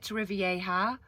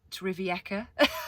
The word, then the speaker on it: Torrevieja: And I've been calling it Torrevieja, but it's Torrevieca. I've been pronouncing it wrong the whole time.